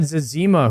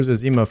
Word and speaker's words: Zezima: Wait, some people say Zezima. I always called him Zazima. Am I saying that wrong? To be fair, I pronounce most things wrong. I will never not say Zazima. Same. When I heard Zezima, I was like, that's wrong, you know? That's not the way that it's said.